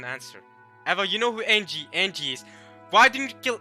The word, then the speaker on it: Ange: Eva, you know who Angie is. Why didn't you kill Angie? What? Okay, it's like how you pronounce angel. Angel. Just angel without the L.